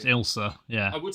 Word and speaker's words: Ailsa: It's pronounced Ilsa.